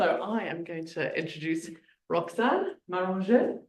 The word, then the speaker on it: Roxane Maranger: So I am going to introduce Roxane Maranger. How was that? Not bad. Well pronunciation.